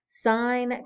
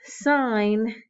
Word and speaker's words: sine: cosine and tangent and remember that sign is actually spelled with an e we use the abbreviation so much that people forget why we say sign they're like why don't we just say sin well just like we